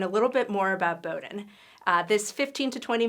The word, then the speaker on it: Bowdoin: very silly one way to remember is that Bowden rymes with exploding knowledge so we want to